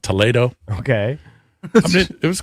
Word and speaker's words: Toledo: to a town called Toledo, spelled like Toledo, but it's not. It's pronounced Toledo.